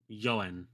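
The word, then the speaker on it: 四円: Yoen. So you guys know that for 4 it's pronounced yon, but it's too hard to say yon en. So we take out the n and we say yoen.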